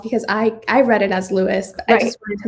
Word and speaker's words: Louis: I was listening to it and they pronounced it Lewis. Okay. But I can see why it would be confusing if you were just looking at it. I've heard some people say Louise, and that threw me